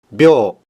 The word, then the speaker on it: 秒: Kanji yang menyatakan detik ini dibaca byo.